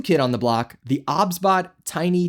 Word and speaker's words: OBSBOT: And yes, it's pronounced Obsbot, not Ozbot.